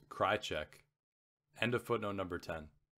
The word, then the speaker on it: Krajicek: this weekend is richard krajicek footnote number 10 pronounced cry check end of footnote number